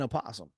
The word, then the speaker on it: opossum: yeah, and I think I've always just said Oh, this is possum.